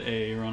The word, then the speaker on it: Aaron: But it's pronounced Aaron. He's like, no, damn it! Are you fucking with me? It's AA Ron. No, it's Aaron.